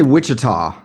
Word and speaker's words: Wichita: I say Wichita.